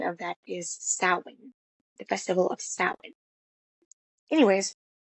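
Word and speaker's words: Samhain: They pronounced it uh as Sam uh which Lumis says the festival of Sam but uh the correct pronunciation of that is sin.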